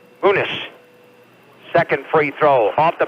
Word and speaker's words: Muniz: Not Muniz, he pronounces it Muniz.